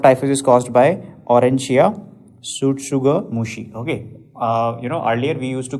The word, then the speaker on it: tsutsugamushi: That we used to call it as Rickettsia tsutsugamushi. T is silent over here, okay.